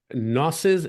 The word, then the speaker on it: gnosis: 17, which is on gnosis and existential inertia? Is it gnosis or gnosis? What's that? Gnosis. I think G is silent.